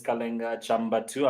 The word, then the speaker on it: Kalenga Chambatu: yes like you said earlier my name is kalinga chamba2 i'm happy to pronounce it correctly because i really get that